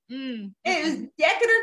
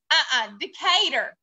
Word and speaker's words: Decatur: don't know no uh-huh remember you pronounced it differently it was Decker Texas Decatur no this is a PE our cater to cater this item loving this